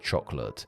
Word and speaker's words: chocolate: Going back to the OED and the word chocolate, on their pronunciation tab for this word, it clearly says it has 3 syllables, but when you play their recording of the word, that middle syllable is barely heard.